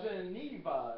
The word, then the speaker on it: Geneva: Geneva is the second syllable, right?